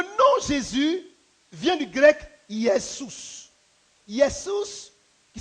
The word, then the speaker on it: Iesous: Le nom Jésus vient du grec Iesous. Iesous, qui s'écrit U-E, accent grave, S-O-U-S.